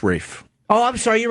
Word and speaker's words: Ralph: would yell at me cuz it's spelled Ralph I go what's up with this Ralph guy it's Rafe it's ra it's like